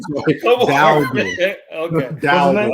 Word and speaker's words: Dowdle: Rico Dowdle, 13 carries, 23 yards. Herman. You have to be able to pronounce the Cowboy players' names correctly, okay? I always say his name wrong. So Come on. Dowdle.